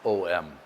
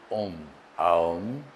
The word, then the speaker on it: Om: Many of us pronounce it as om thinking it's om. In Sanskrit it's actually made of three letters a ma and then there's a